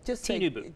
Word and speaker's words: Tinubu: Tinubu.